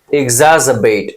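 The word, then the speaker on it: exacerbate: एग्जैजवेट, एग्जैजबेट। Are silent होता है।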